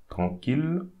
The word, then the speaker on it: tranquille: So we have double L. So I will put the link on how to pronounce double L. I made a video about double L pronunciation. So please go through it if you need more explanation about double L. But here we read like a single L.